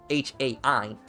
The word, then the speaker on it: Hai: because I speak German, and if it was spelled the way it was spelled in German, which is the proper way it's spelled, H-A-I, it would be pronounced Hai.